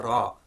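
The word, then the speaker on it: ر: Now this isn't like the English r, and that's the way this letter is used, usually used in Urdu, but that's not the way it's used in Arabic. Okay, the way to think about this letter, and the way to get it right, is to roll your tongue so you get a r sound.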